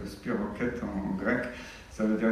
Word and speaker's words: spirochète: C'est un groupe qu'on appelle spirochète, ça s'écrit spirochète, mais ça se prononce spirochète en grec.